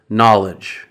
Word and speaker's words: knowledge: And we'll start with an easy one, the silent K, which is not pronounced when it comes before the letter N at the beginning of a word. Just like in the word knowledge.